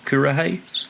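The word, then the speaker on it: Kuarahy: into the oblivion and i always mispronounce the debut album is it kura hai kurahei is that korra there you go yeah is that is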